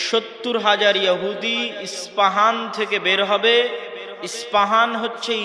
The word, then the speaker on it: ইস্পাহান: আমরা প উচ্চারণ করি ইস্পাহান আরবিতে এটা উচ্চারণ হয় না আরবিতে হয় আল আসবাহানি বা উচ্চারণ হয় ইসবাহান বাসবাহানি সেখান থেকে 70